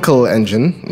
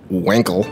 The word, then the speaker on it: Wankel: building the fine Kalenjin because that's the true german pronunciation not Wankel the fine coal engine